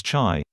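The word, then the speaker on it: 茶: one alphabet which is pronounced as cha in cantonese or mandarin and pronounced his tay in the min dynasty wherever tea reach through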